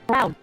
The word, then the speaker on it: Brown: That's Emmett Brown, rhyme with clown, which I didn't think you are.